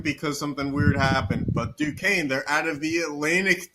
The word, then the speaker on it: Duquesne: So wait, what is the Dukens? I can't even pronounce that. Oh, it's Duquesne, Yeah.